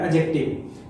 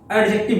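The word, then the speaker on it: adjective: बहुत लोग इसको एडजेक्टिव बोल देते हैं, एडजेक्टिव नहीं होता है, एडजेक्टिव होता है। क्यों? क्योंकि ए और जे के बीच के डी को प्रोनाउंसिएट नहीं किया जाता, साइलेंट रहता है।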